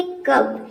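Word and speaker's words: cup: बीच यू आ जाए तो यू को हम अप्रोनाउंस करते हैं। जैसे कि देखिए यहाँ पे एग्जांपल है कप।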